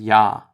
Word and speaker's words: Ja: First we have the J, or J, which is actually pronounced just like the Y is in English. Some examples: Jung, which is young, and Ja, which is yes.